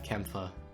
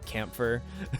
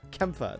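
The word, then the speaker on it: Kämpfer: it closer like like I think it was like the proper like German pronunciation which is like Kim Phuc Kempe yeah it's so weird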